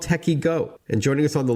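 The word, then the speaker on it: Tekyo: What's Techiego all about? And we should tell our listeners that Techie Go is spelled T E K Y O.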